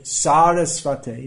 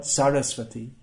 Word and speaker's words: Sarasvate: Incidentally, this pranam mantra is widely mispronounced within ISKCON, so we might as well learn to pronounce it. It's not Paschatya. Namaste, not Namaste. Namaste, Sarasvate, not Sarasvati.